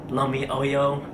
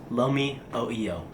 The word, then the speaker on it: Lomi oio: trying Uncle holics uh Lumi Oyo and then they said uh what did you just say I was like uh Lomi Lomi oo and they said it's pronounced Lomi o EO so yeah whole video